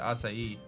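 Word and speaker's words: açaí: I've ever heard of the acai berry which is always a funny word people don't know how to pronounce but I believe you do pronounce it acai alright so paralysis sleep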